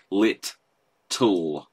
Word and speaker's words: little: So little, by the way, is a two-syllable word, like, because it's lit, all. Little, well, sorry, that made it sound like, well, David, you've just broken your own rule. Lit, tull. It's got a double T in the middle, so it's lit, tull.